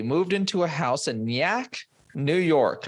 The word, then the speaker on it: Nyack: into a house in Nyack, New York. I think I pronounced that close to okay enough. N-Y-A-C-K. Nyack. Okay. Sure. It's probably Nyack. Oh, okay. Sure. I'm calling it Nyack. It's a better name.